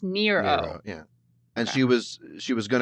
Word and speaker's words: Nyro: And then after she left high school, she changed it to Nyro, which you'd think would be pronounced Niro, but according to Wikipedia, at least, it's pronounced Nero.